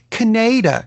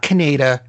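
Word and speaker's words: Kaneda: If you watch it in English, Canada. It's not Canada. It's Canada. Pronounce it properly.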